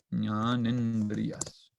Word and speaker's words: jnanendriyas: Esto cuando se escribe junto, la A con la I se juntan y forman un E. Entonces, estos se llaman jnanendriyas. Y estos se componen por oído o la audición, técnicamente.